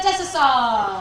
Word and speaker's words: Desasar: Leading off, bottom of the second for the Lobos, third baseman, number 10, Tamia Desasar. That's a SAR.